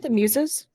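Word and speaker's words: Themis: Oh, is it Themus? I mean, yeah, probably. I mispronounce this all the time. It's close enough. It is Themus.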